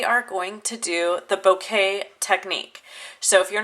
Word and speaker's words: bokeh: Today we are going to do the bouquet technique.